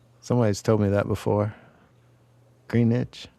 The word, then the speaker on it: Greenwich: Greenwich? You don't say the W How How is it? I know it's not necessarily pronounced like I say it. Somebody's told me that before. Greenwich?